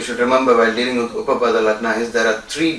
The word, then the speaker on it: Upapada: UPAPADA. This is the way you have to pronounce it, and you can use the short form UL.